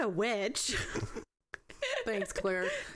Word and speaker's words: Clear: Thanks, Claire. Spelled clear. Because like the subtitles, it's like clear. No. Like clear water. But it's pronounced Claire.